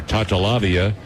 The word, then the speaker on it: Tatalavia: Coach told me that if I call her Tatalavia, that's the way to pronounce it, but nobody who would know who I was talking about, so call her Tootie.